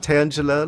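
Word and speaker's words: Tangela: to use the Scolipede pronounced tangula like tangle you mean it's not like like like the like tangelo like the fruit yeah I I know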